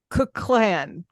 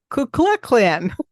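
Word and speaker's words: Kukulcán: Located in Mexico's Yucatan Peninsula, in anticipation of the descent of Kukulkan. Kukulkan.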